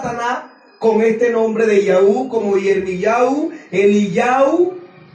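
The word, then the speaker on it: יהוה: Esto se pronuncia Yahú. Las 4 letras siempre se ha pronunciado Yahú. Algunos dicen Yahweh, dándole terminación a la Hei como si fuese una E.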